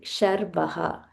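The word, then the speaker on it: Sharvah: Sarvaha Sarvaha and followed by Sharbaha. Sharbaha. So we need to be very careful when we are pronouncing sir and sh because when we um change by mistake the meaning changes.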